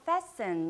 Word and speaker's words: fasten: 중간에 있는 이 T는 소리가 사라져요. 그래서 fasten 이라고 읽습니다.